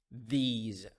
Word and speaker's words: these: a tip here the s in these words pronounced as as ze sound those those those these so we have this that those and these